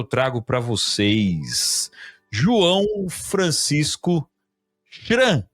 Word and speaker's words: Schramm: Então, sem mais delongas, eu trago para vocês João Francisco Chiran. É assim que pronuncia, meu caro João? Positivo, Chiran.